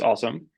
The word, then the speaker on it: OSoMe: is uh the acronym awesome is uh is pronounced awesome uh is a joint project of the ly